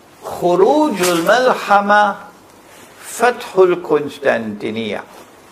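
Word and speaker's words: القسطنطينية: Notice that the hadith goes on to say, Khurujul Malhama Fathul Constantinia. I pronounce it as Constantinia, but in Arabic they pronounce it as Constantinia. Kos, not Kun. Constantinia is closer to the original.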